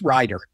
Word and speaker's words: Rieder: You know, my whole life, people have gotten the spelling and the pronunciation of Rieder, Rieder, so I'm used to it. But thank you. Yes, Rieder.